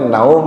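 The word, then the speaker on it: نوم: irum beitu do Ya tapi kalau secara tajwid bacanya naum itu ya panjang salah tajwid ya bacanya itu namanya madlayin madlayin bacanya panjangat khairum minan naum yang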